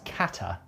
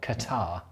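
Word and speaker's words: Ka'tah: on from your shrugs apparently it's kata not qatar i've been informed well it's spelt k-a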